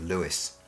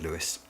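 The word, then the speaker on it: Lewes: in the county town name of Lewis whether you correctly pronounce it Lewis will read it to rhyme with Hughes the sound of wet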